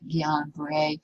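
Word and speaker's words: Guillain-Barré: see it called guillain-barre that is pronounced this is silent the g silent gian bray syndrome gbs and it it it is a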